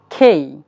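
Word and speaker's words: K: will be জেই জেই কে ইটস নট কে it will be খেই it will be খেই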